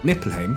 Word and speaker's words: Niflheim: cosmology, it’s accepted that Niflheim, or Niflheim (Icelandic pronunciation), however you want to